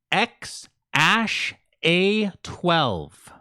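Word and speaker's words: X Æ A-12: up the pronunciation again it is X ash a 12 what the [ __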